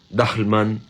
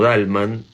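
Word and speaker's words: Dahlmann: Me tomé la libertad en lugar de pronunciarlo Dahlman como ese Johannes Dahlman que era pastor de la Iglesia Evangélica, lo elijo pronunciarlo Dalman de ahí en adelante, eh, imaginando que así lo pensaba Borges.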